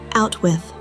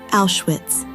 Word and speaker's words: Auschwitz: They arrive at a place Bruno cannot pronounce properly. He calls it Out-With. We know it by another name. Auschwitz. Their new home is a